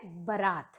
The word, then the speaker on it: बरात: इसमें जो अशुद्ध है, जो वो गलत है, वो बा पर बड़ा की मात्रा इसमें लगाई गई है, लेकिन नहीं, वो गलत है। तो हमें बा पर ज़्यादा जोर नहीं देना है और सही शब्द हम उसका उच्चारण जो बोलेंगे वो है बरात।